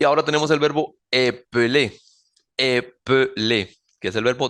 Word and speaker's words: épeler: Noten que en el primero, en el base, en el infinitivo, yo no pronuncio la segunda E como E. Épeler.